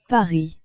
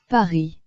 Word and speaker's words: Paris: Paris is pronounced as Paris in French. So, Paris is pronounced as Paris in French. The letter S in French, here the last letter S is not pronounced.